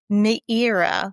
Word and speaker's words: Meira: MEIRA, like Madeira wine, but MEIRA.